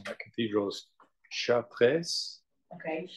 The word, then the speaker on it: Chartres: So I pronounced that wrong. That cathedral is Chartres. Okay, Chartres.